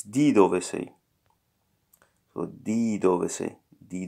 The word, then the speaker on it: di dove sei: No, it's not de, it's di dove sei.